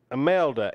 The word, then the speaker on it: Imelda: Imelda. M is an immigrant. L is an elderly. Duh is in duh.